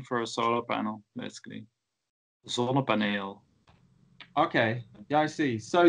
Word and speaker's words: ZonnePaneel: ZonnePaneel. Yeah, that's a Dutch name for a solar panel, basically. ZonnePaneel.